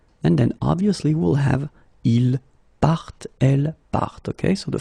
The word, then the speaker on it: part: So phonetically, je pars, tu pars, il part, elle part.